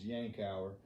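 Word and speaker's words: Yankauer: I'm in North Carolina, so in the southern states, so we call it a yonker, but I had someone that's from New Jersey and they corrected me and said the correct pronunciation is yankower.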